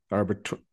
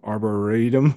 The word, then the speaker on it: Arboretum: this is the domain arbitrary I said that wrong Arboretum Arboretum I said that wrong I always say it wrong um yeah slap me